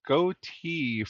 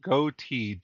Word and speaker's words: Gotye: Uh apparently, it's pronounced Gotye, g o t y e.